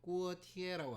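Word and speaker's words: 锅贴: 형태의 군만두가 중국에 있습니다 그거를 이제 중국어를 읽으면 꾸어 티에라고 합니다 꾸어티에 뜻을 해석하면 있고요 냄비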